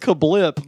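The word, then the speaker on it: CaBLP: no he says that no it's not literally written with a capital c and then lowercase a b l p he says it's pronounced kablip but i'm like no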